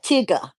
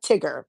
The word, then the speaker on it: Tigger: And Tigger, not Tigger. It's Tigger. Because no R is pronounced in this household.